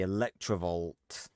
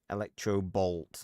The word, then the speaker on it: Electrobolt: Uh the electrovault. Electrobolt, not electrovault.